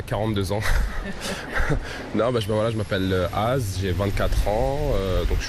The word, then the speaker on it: Az: Il s'appelle Az, AZ. C'est ça. Comment on dit AZ, Az. Ah, d'accord. mais ça s'écrit AZ.